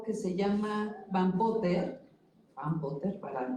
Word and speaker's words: Van Potter: Van Potter, para pronunciar bien, en su libro Bioethics of Reach to the Future en el 71.